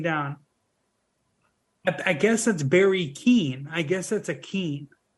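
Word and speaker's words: Keoghan: to say his name it's k-e-o-g-h-a-n and I think it's pronounced Keen like my brother told me it Keane said that I've always said like Kagan or Keegan but that was just a guess yeah like Brendan Gleason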